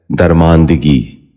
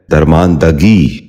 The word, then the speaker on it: درماندگی: غور سے سنیے، درست۔ چھٹا لفظ ہے درماندگی۔ یہ غلط تلفظ ہے، اس لفظ کا درست تلفظ ہے درماندگی۔ دوبارہ سنیے، درماندگی۔ بچوں